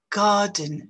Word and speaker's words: garden: Garden, vous voyez qu'on ne prononce pas le « re ». Garden, c'est juste une voyelle longue, la lettre « re », si vous voulez, est remplacé par la longueur de la voyelle.